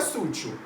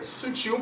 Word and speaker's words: sutil: só que não é sutil é sutil porque é uma oxítona então você tem que